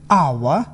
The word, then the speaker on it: hour: Silent H. H is not pronounced at the beginning of many words. Use the article an with unvoiced H. Here are some of the most common: hour, honest, honor, air, herb.